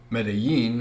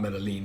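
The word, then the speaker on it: Medellín: I found out that Medellin, and by the way, I pronounced it wrong. It's not Medellin, it's Medellin, is located in Colombia, and they don't have a coffee company.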